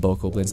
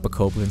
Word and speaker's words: Bokoblin: boko blinds from now i'm going to call them bokoblins not bacoplans because i'm just so used to calling them boko blinds and who cares about